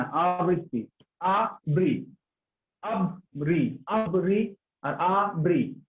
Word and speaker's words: আবৃত্তি: কবিতা আবৃত্তি এটা হচ্ছে শুদ্ধ উচ্চারণ। আমরা বলি কবিতা আবৃত্তি, এটা ভুল উচ্চারণ। আবৃত্তি না, আবৃত্তি।